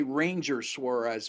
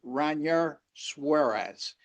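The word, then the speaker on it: Ranger Suárez: So tempted to always say Ranger Suarez, but actually his name is pronounced Ranar Suarez.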